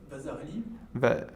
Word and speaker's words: Vasarely: Vasarely. How do you say? What? Vasarely. Vasari? Vasarely. Vasarely? On était sur le visuel à côté.